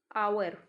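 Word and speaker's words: hour: इसी कैटेगरी का एक और वर्ड है आवर। आवर मतलब घंटा। तो इसका जो प्रोनाउंसिएशन है उसमें भी एच प्रोनाउंस नहीं करते हैं हम, ये ओ से स्टार्ट होता है।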